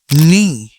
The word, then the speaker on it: knee: Knee. Knee. Here K is silent.